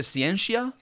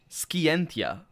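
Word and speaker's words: scientia: in Latin it's either ciencia or ski entia and that would be the difference between a classical Latin and restored Latin which is what we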